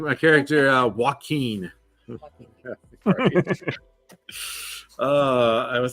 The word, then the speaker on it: Joaquin: Or everybody's just gonna think his name is Walking. Hey, I'm walking here. Walking? No, Joaquin.